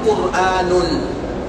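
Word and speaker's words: قرآن: Alquran Alquran ituatul Isam bacanya dua yang pertama alquranu dan bacaan yang kedua quranun tidak boleh kita mengucapkan alquranun dan tidak boleh kita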